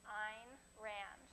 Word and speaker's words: Ayn Rand: philosophy of rational selfishness the correct way to pronounce her name ein rhymes with the word mine so keep that in